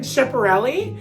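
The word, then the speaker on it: Schiaparelli: hunger games moment i she's wearing chaparelli i believe is how you say it you know i'm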